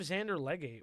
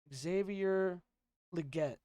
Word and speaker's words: Xavier Legette: Oh, we also have Xander Legate.